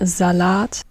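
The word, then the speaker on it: Salat: Z and so on there zad not salad but zad there zad there z um Zant salty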